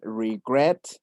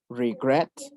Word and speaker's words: regret: Entonces, aquí la última sílaba sí está acentuada. Escuchen. Regret. Regret. Por lo cual se duplica la última consonante y se agrega ed. Regretted.